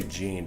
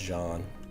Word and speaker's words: Jean: Jean gser talks about I always say Jean but I think it's actually pronounced John John gser talks about